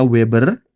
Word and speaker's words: Weber: Pi sama dengan flux magnet, satuannya Weber. Ini bacanya Weber karena yang menemukan Weber.